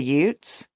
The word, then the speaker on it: Utes: about it, and he's like, "You mean the Utes?" Okay. And I was like, oh, yeah. I don't know that I can go back and fix all the spots in that episode that I said Utes.